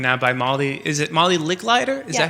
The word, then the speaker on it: Licklider: Is it Molly Licklider? Is that how you pronounce it? Molly Licklider.